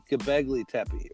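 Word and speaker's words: Göbekli Tepe: Gabogli Tepe. Can I say it right? Good. You got it. Gabegli Tepe, right?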